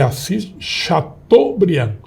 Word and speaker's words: Assis Chateaubriand: muda assim né Na realidade é preciso a pronúncia e é Assis Chateaubriand o aquele bermuda ele ele desaparece e o